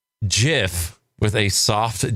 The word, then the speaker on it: GIF: It's pronounced GIF because the G stands for graphics, which is G.